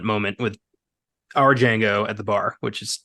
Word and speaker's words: Django: has that you know the D is silent moment with our Django at the bar which